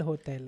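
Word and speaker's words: hotel: होटेल नहीं है एल होटेल है हां और वो एच साइलेंट होता है हमेशा होटेल इसलिए तेल हो जाएगा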